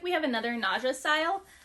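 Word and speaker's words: Nadja: It looks like we have another Naja style. Nadia, N-A-D-J-A is how you spell it.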